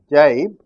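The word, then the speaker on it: gybe: You know, this has two different spellings, and in Britain they call it as, they pronounce it as jibe, but the letters are G-Y-B-E.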